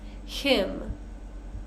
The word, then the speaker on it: hymn: The common pattern here is we have words ending in M-N. So this is our common pattern here for this silent N. We're just going to pronounce the M sound.